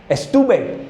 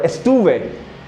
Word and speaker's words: estuve: Remember this V, you can say it like B or V, we don't care. Estube or estuve.